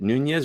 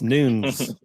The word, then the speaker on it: Nunez: your last name Brian is it Nunez or nuns it's neither of those it's noon I didn't see their